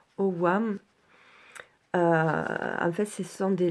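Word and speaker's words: Ogham: dans la LOA voilà c'est écrit Hogan mais ça se prononce au WAM en fait ce sont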